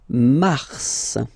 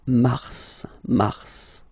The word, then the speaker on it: mars: Okay, then mars. Okay, so in a way it's an exception because normally final S is not pronounced in French.